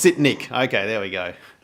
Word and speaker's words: Sitnik: She told me how to pronounce her name in the email. let me make sure. Yeah, it's Sitnik. Okay, there we go. Sitnik.